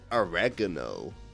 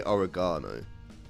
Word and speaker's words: oregano: For Portland, like that's always like, because Americans say oregano, but we say oregano.